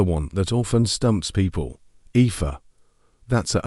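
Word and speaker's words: Aoife: Epha, that's a o e. It's pronounced Epha.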